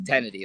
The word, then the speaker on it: Kennedy: niti uh it's um it's kennedy like candy kennedy with the t kennedy okay caleb sorry